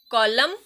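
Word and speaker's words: column: Autumn, कॉलम, government. यहाँ पे एन की साउंड नहीं आएगी।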